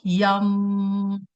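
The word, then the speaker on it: यं: मंत्र इज यम एंड इसको हम प्रोनाउंस कैसे करते हैं? स्लोली रिपीट करके इसकी वाइबेशंस को अपने चेस्ट सेंटर पे फील करके लाइक यम। सो म की साउंड इसमें थोड़ी सी ज्यादा होती है।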